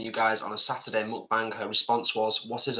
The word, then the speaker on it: mukbang: And it's not actually muk, it's mukbang. That's how you say it.